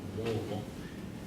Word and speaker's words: Louisville: I'm originally from Louisville, Kentucky. Louisville, as those folks that are from that area, if you know anybody from Kentucky, they pronounce it Louisville.